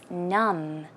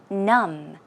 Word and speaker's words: numb: n um D but the B is silent you don't pronounce it so as you see it's numb numb numb and it means to